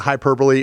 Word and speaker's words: hyperbole: So hyperbole is that how you say it? Is that what hyperbole? Yeah, hyperbole.